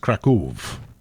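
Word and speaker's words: Kraków: to run through through Krakov we should be pronounced Krakov I am I am reliably informed but I'm never going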